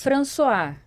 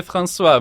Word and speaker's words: François: É em francês é françois, mas pode falar François que como se fala em português, né?